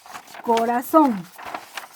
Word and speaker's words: corazón: justamente por ejemplo y la palabra corazón corazón corazón la divida en sílabas que ya son donde está el golpe de voz corazón en la última sílaba por ese motivo es